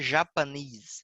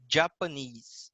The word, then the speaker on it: Japanese: Não é Japanese, é Japanese, tá? Como se tivesse um Sim. Dzinho ali na frente, um demudo, Japanese, Japonês, tá?